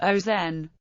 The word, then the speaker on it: Auxonne: villages in bloom pronunciation due to an exception in the French language the name is pronounced oen the current speaking of the name comes from a habit of copyists of the Middle Ages who replaced the double s by a cross which does not change the pronunciation this cross equated with